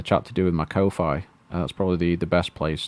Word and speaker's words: Ko-fi: So I suppose if you take it know. on the principle of how lo-fi is pronounced, then it would be ko-fi.